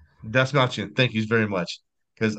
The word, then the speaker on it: Dastmalchian: How do you pronounce his last name? David Dastmalchian. Dastmalchian, thank you very much.